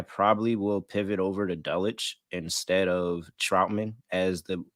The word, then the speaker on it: Dulcich: How do you pronounce his Yeah. name? Dulcich. Yeah, so Dulcich, it seems like he is practicing and he could potentially return to this game.